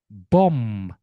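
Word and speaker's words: bomb: Nah, ini teman-teman bom bom climbing climbing. Semua B yang ada di sini tidak dibaca.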